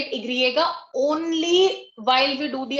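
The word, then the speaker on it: i griega: But according to them, Y की क्या pronunciation होती है? Igriega, right? So according to them, they do not know what Y is. They know Igriega.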